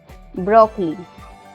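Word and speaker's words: broccoli: ब्रोकली, ब्रोकली में भी ओ के बाद एल आया हुआ है और एल के बाद आई आया हुआ है, तो यहाँ पे ओ साइलेंट है।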